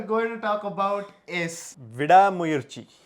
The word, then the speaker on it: Vidaamuyarchi: to talk about is VI mui did I say it right yes VI mui the the first time I think I said V mayi and some people helped me in correcting it so thank you so